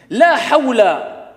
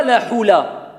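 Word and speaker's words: حول: La hawla, ce n'est pas la hula.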